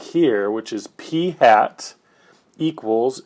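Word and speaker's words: p̂: what's going on um the way that we pronounce that is p hat okay that is not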